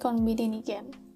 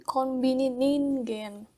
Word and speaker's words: コンビニ人間: Ini adalah novel karya Sayaka Murata yang punya judul asli Konbini Nigen. Benar kan bacanya? Coba aku cek dulu. コンビニ人間コンビニ人間コンビニ人間 Ningen. Konbini Ningen. Oh, jadi bukan Konbini Nigen, tapi Konbini Ningen.